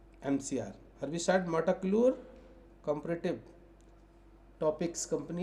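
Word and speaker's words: metolachlor: जैसे एला क्लोर बूटा क्लोर ऐसे य है मेटा क्लोर मेटा क्लोर स्पेलिंग होगा इसका एम ई टी ओ एल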